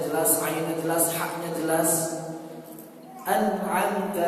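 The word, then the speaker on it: أنعمت: An'amta alaihim, bukan dibaca am'amta alaihim, dibaca gitu.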